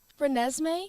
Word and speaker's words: Renesmee: Renesmee, Renesmee.